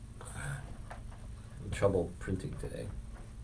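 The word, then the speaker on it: עם: I'm in trouble printing today. It's spelled like this: ayin final mem with a dot, im.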